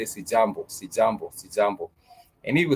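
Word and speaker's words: sijambo: The syllable J and you can say jambo. And whomever receives your greetings would simply say sjambo.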